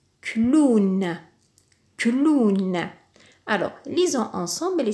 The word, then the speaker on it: clown: un W dans ce toute cette combinaison de lettres se prononce ou par exemple dans le mot clown clown alors lisons ensemble